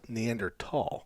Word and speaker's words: Neanderthal: mediator podcast one time and apparently neanderthal is pronounced neanderthal yes not not not for me yeah well me either but i've made a point now anytime i say it to say neanderthal because it makes you sound more distinguished and